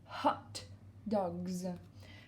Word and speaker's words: hot dogs: On n'oublie pas de prononcer le H. Hot dogs.